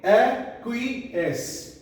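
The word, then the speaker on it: aqueous: यहां पर भी ए से ए साउंड होगी. ए. इसे क्या रीड करेंगे? एक्विएस, एक्विएस, एक्विएस.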